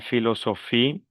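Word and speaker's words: philosophie: Bueno, la P y la H. El sonido es como como la F. Entonces digo Sofí la filosofí hasta la Pilipe.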